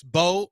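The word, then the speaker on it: Mbow: Draft and Bao. No, it's not. It's just ba. It's It's Bo or I think it's Bo. Bo. Marcus Mbo. It's just Bo. The M is silent. Don't say the M.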